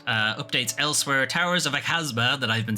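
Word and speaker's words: Aghasba: been saying wrong I've been saying aaba it's apparent it's aaza I just can't read anyway there's a over there's a voice over on this video that actually pronounces it and it's towers of aaza is what is the way it's meant to be pronounced anyway uh that's coming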